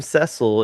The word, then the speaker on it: Cecil: parting all the time the name cecil is pronounced like cecil brown and rhymes with vessel not like beanie oh not like what beanie and cecil okay and rhyming with diesel okay got it all right